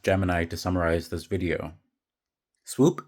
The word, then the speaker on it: Spw: Swoop is spelled Spw.